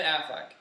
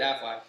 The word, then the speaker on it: Affleck: now flick I flex Ben Affleck I always said Aflac if there's one thing I missed about these well you always mispronounce it then if there's one